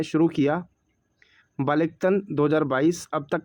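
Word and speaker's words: Balikatan: संयुक्त राष्ट्र अमेरिका ने अमेरिका की सेना और फिलीपींस की सेना ने सैन्य अभ्यास बालिकतन, इसको कैसे प्रोनाउंस करना आप देखना, बालिकतन है वैसे तो, बालिकतन 2022 शुरू किया।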